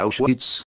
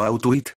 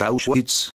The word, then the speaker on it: Auschwitz: familia tiene que mudarse a auschwitz que bruno pronunció mal como out with el campo de concentración